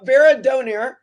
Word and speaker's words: Veradona: we have Rio verad Rio I always say I always say that quickly Rio Veron veradona did I say it right that time yes sorry I get very excited